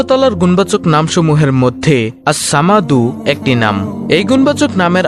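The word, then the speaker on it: الصمد: এই আস সামাদ নামটি হল আল্লাহর 99 টি নামের মধ্যে একটি নাম। আল্লাহর এই গুণবাচক নাম আসসামাদু এর জিকিরের আমল ও ফজিলত তুলে ধরা হলো| নামটির সঠিক উচ্চারণ হল আসসামাদু অর্থ হলো তিনি কারো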